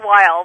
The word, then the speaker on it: Weil: Welcome to the show, Weil, the Corporate Blogging Guru. Donna, thank you. It's actually Weil, but that's neither here nor there. Am I saying it wrong? It is Weil, but it doesn't matter.